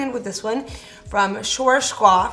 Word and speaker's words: Schwarzkopf: So I'm gonna be going in with this one from Schwarzkopf. How do you say that again? Schwarzkopf.